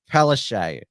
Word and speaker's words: Palaszczuk: name as Pala chuk because that is the correct polish pronunciation but she told us that it was pronounced palese and so because she